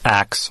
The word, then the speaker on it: ask: I believe I'm here to talk about the historical pronunciation of axe for ask. Scheidlauer says axe has been used since the 8th century and derives from the Old English verb axion. The people who use the axe pronunciation are using the pronunciation that has been handed down in an unbroken form for 1,000 years. It is not a new thing. It is not a mistake.